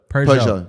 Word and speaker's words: Peugeot: Peugeot.